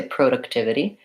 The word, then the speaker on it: productivity: I think I say productivity productivity has provide a third syllable stress and production as second